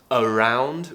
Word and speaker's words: around: And remember to pronounce around with the schwa sound on the A. Around. The reason why is because round is the stressed syllable here, meaning that we can, in some cases, relax a vowel before a stressed syllable or after a stressed syllable, and it will become a schwa sound.